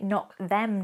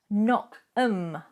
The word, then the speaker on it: knock 'em: You'll hear that I don't say knock them dead. Knock 'em. I omit those 2 letters.